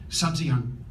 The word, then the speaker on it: Sabzian: I'm thinking of Sabzian, is that how you pronounce it?